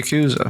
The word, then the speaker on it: yakuza: yakuza they're not the yakuza is it the i thought exactly the presenter right yakuza is the correct pronunciation but because the westerners have to do prolonged wowie look at the